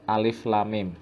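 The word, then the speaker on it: الم: Cara membacanya begini. Alif lam mim, lam mim. Jadi ini hurufnya diidghamkan pada huruf sesudahnya. Ini lam masuk ke mim. Jadi huruf lam dibaca dengan mengidghamkan huruf mim.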